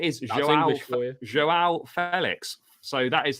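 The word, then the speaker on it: João Félix: Joao Felix. So that is how it's pronounced.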